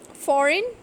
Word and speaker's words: foreign: Foreign, sign, feign. So in these cases we can see that G is not pronounced when it comes before N in a word.